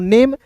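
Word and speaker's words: name: नेम एन ए एम रहता तो इसे पढ़ते नेम। लेकिन अंतिम में इ है तो इसका उच्चारण एक रूप में होगा।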